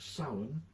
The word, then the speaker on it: Samhain: Last time around I was talking about Samhain, spelt Samhain but not pronounced that way, and talking about Celtic